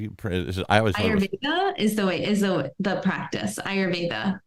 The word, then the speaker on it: Ayurveda: it how do you praise is the practice ayurveda ayurveda okay so in ayurveda or ayurvedic would that